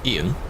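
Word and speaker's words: Iain: Like, there's another name where I think it's like I-A-I-N. I think. And that was like just Ian. But in a different way.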